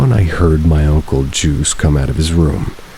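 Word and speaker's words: Juise: My great uncle Juice, spelled with a ju u I s e but pronounced like juice also lived there and he was really old about 80 probably.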